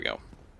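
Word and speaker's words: Gough: Bow of the Dragon Slayers, led by Hawkeye Goff. Or Go, if you want to pronounce it correctly, I suppose.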